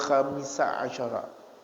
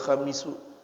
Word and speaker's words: الخامس عشر: Al-babul khamisa asyara, dibacanya seperti itu, bukan al-babul khamisu, karena ini mabniyun lil fathi, ya, mabniyun alal fathi, dibina atas fathah.